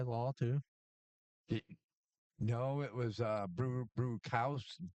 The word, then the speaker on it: Bruschi: No, it was Brewhouse. How do you say Teddy Bruschi? Teddy Bruschi.